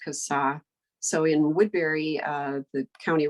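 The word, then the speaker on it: CSAH: So if you see a 5-sided blue sign, that is, the acronym is pronounced CASA.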